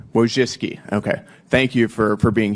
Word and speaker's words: Wojcicki: Miss Wojcinski, is that how you pronounce it? Yes, Wojcicki. Wojcicki.